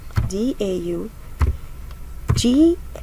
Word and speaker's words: daughter: So it's D-A-U, let's write it together, D-A-U, G-H-T-E-R, daughter. We don't pronounce the G and the H.